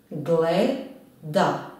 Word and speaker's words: gleda: Koji slog je naglašen u reči gleda? Gleda. Gleda. Tako je. Naglašen je opet prvi slog.